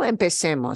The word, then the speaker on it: empecemos: Even though I switch from a Z to a C, C-E is still say. So it's still empecemos. So, you know, it doesn't affect the way you pronounce it.